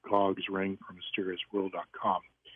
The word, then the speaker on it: Gog: The first two, Gomer and Magog, I believe are actually the famous Gog and Magog. Gomer actually is named shortened to Gog, so it rhymes with Magog.